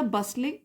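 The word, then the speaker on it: bustling: खड़ा हुआ इन अ बस लिंग मार्केट प्लेस बस लिंग में टी साइलेंट है बस लिंग मींस चहल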